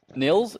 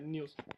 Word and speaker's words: Niels: Nils? Is that how you say it? Nils? Almost. Yeah, Niels.